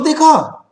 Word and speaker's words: the: पहला रूल, जब THE किसी कॉन्सोनेंट से पहले आए तो उसे द प्रोनाउंस करते हैं।